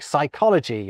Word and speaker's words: psychology: So, we pretend the P isn't there when we pronounce Greekder derived words like psychology and psalm. Ditto with t words like pterodactyl.